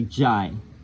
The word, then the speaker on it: Jai: Now it's why the word is not really J, it's really Jai.